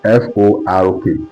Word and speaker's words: fork: F-O-R-K. Fork. You understand the fork that you used to eat? Some of you call it fake. It's not fake. You are pronouncing the wrong thing. Okay, so you call it fork. That is the O sound, fork.